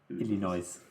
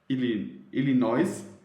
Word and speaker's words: Illinois: Illinois? I think the S is silent. I don't know. I said it in German. That's all. Illinois.